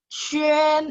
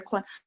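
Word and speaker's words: quān: Saya sering banget dengar orang baca Kuan. No, itu bukan Kuan. Chuan, itu nada 1.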